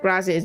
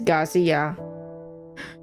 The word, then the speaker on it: Garcia: Oh, I said it wrong. It's not Gracias. It's Garcia. I swear to God, I don't I don't have dyslexia, y'all.